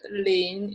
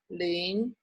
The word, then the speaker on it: 零: A 0 is 零, is rising tone, is the what tone, 零, 零. Okay.